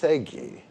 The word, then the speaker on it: segue: I said pronounce the thing. Why? Someone says something. What is it? No. What? It's Segi.